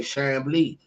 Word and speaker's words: Chambly: My name is French, and and she was like, "Oh, well, how do you pronounce it in French?" I say Chambly.